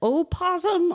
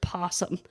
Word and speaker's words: opossum: like, so is it opossum or is it possum? And the thing is it's both. The O got taken off because people were tired of pronouncing the extra syllable like we were talking about earlier.